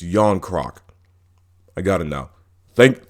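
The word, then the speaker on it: Järnkrok: do want to apologize it's not john crock it's yon crock i got it now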